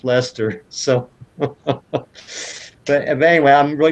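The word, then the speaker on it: Leicester: English city that that it looks like it's spelled leister was actually pronounced Lester so but anyway I'm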